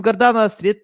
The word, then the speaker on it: Gordana: I'm so excited to discuss this topic with gardana how are you good good that was actually very good pronunciation of my name thank you uh people